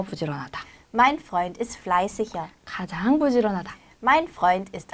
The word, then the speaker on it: fleißiger: 네, 보통 이렇게 이게로 끝났을 때 이씨 이렇게 읽는데 뒤에 모음이 오면 다시 그 발음이 살아나요. 그래서 fleißiger 이런 게 아니라 fleißiger 이렇게 해주시면 되고요.